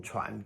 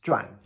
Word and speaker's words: 传: Special note, second tone, 传, can also be pronounced 转.